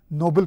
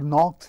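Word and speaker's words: Ernaux: में यह अन्य और नॉक्स है फ्रेंच लैंग्वेज में एक्स जो होता है वह साइलेंट है तो इनको अन्य और नबी प्रनंसीएट किया जाता है अन्य अग्नोबी प्रनंसीएट किया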